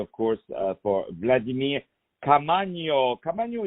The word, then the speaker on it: Caamaño: Caamaño is spelled Caamano. Caamaño.